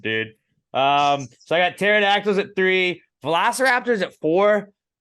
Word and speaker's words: pterodactyl: I don't know and pterodactyl is also cool because it's spelled with a p and so you forget